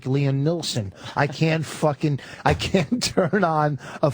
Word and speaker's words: Neeson: Neeson. Neeson, right? Liam Oh my God, Neeson. I forgot. The L is silent. There's no L at all.